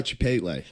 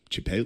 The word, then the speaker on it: Chipotle: You were about to buy Chipotle.